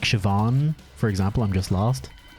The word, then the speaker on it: Siobhan: i'd remind some like siobhan for example i'm just lost so basically basically in irish bh is v pretty much it's it's phonetically it's it's kind of basically v i just took damage